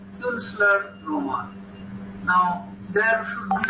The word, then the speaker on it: Künstlerroman: But here there are the points, that is, there is the umlaut, which means it will be pronounced U. And therefore the word Künstlerroman is derived from the word Kunst.